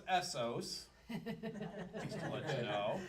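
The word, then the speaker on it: Assos: So our last stop for tonight anyway, that's pronounced Essos.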